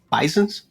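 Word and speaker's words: Bysen: B-Y-S-E-N, Bison. which is pronounced kind of the same way.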